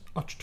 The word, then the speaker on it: Ahch-To: in and be like, "I think it's pronounced Achto." It's gonna be a Spaceballs scene. Yeah. And Phasma's like, no. The C and the H and the hyphen are all silent, and they have this big argument.